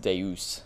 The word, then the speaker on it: Deus: I keep saying Deus because it's easier, but it's actually pronounced Deus.